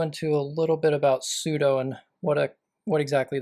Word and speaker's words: sudo: really matter I think the correct way is sudo well I've gotten in a bad habit and just been saying pseudos okay so why is